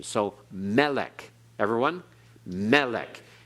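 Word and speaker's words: מֶלֶךְ: a millel pronunciation so Melech everyone melik it's not Malek it's Melech okay Accent on the first syllable that's milele and one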